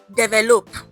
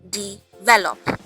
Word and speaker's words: develop: Okay, not develop. No, develop. The stress is on the second syllable.